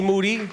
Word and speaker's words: Moody: Moody. Yeah. And his last name does rhyme with duty.